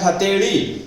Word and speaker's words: हथेड़ी: जैसे मान लो हथेड़ी कहते हैं ना, हथेड़ी, तो ध्यान रखना है वो जो ये उच्चारण होता है हथेड़ी, हथेली नहीं, हथेड़ी, बस वो ही है, उसी की बात कर रहा हूं।